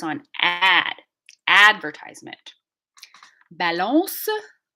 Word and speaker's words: balance: stress on ad advertisement balance so at the end it ends on a nasalized vowel we don't hit that n sound for real right balance so in